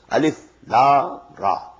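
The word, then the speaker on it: الر: Not pronounced as Alif Lam Mim Alam. No. Alif Lam Mim. Alif Lam Ra Alar. No. Alif Lam Ra.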